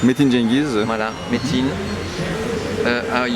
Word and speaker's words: Cengiz: Oui, moi, beaucoup de textes ont été traduits, hein, en turc notamment par Cengiz, hein, c'est comme ça qu'on prononce. Metin Cengiz.